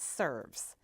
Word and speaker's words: SRVS: now Today's Show is about an organization that serves once called the Shelby residential vocational services this organization is now simply named srvs pronounced serves and what an appropriate name as